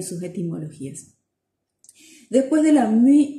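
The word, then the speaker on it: μ: Después viene la mi, que se pronuncia de esa manera, mi, como si tuviéramos después de la M una U francesa, ¿sí?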